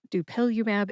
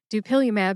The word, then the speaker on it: Dupilumab: Dupilumab is next. Dupilumab has four syllables. That's do like duel, pill like a pillow, U like the letter U in the alphabet, and MAB which is the stem for monoconal antibodies.